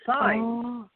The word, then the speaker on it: Saenz: pronounce my last name but it's signs like like many streets like many street signs oh um so it's signs yes it's Spanish oh that is so